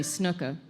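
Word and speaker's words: Snuka: No, that's not how you say his name. Superfly Jimmy Snooka.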